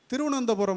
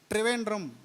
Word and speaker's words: திருவனந்தபுரம்: தான் இருக்கும் திருவனமந்தூர் இருக்குல்ல திருவனந்தபுரம் வந்து திருவனந்தபுரம்னு ஆங்கிலேயனுக்கு உச்சரிக்கு வராது ட்ரிவேண்ட் அப்படின்னா திருச்சிராப்பள்ளி இருக்குல்ல திருச்சி